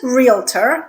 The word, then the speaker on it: realtor: It is realtor. There are only 2 syllables in this word, so don't go adding another syllable in the middle.